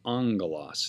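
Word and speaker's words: ἄγγελος: see the two gammas there in ongolos it's pronounced angolas not gamma with another gamma key kappa or xe and we have the m sound angalos second breathing marks if a word begins with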